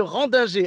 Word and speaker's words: Rendinger: Non, c'est Antonia de Randinger.